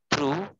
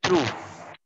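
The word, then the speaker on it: through: এই তো তোমরা তোমরাও এখন লাইনে চলে আসছো, বুঝতে পারতেছো, the line was paint থ্রু বাই, এটা উচ্চারণ হবে থ্রু, উচ্চারণটা কি হবে থ্রো না, উচ্চারণ হবে থ্রু।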